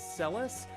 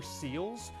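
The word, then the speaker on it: Celes: in the middle is Celis. I always called her Seals growing up, but Celis, did you always call her Celis, Ben?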